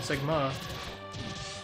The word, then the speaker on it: Sigma: Emphasis on the second syllable. Sigma.